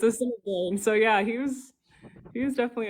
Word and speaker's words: Assiniboine: He was saying Assiniboine, which isn't a tribe. It's Assiniboine.